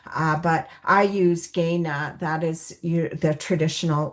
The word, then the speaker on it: Kainai: Uh we also so there's different pronunciations. There's kaii there's also gana. uh but I use gaya.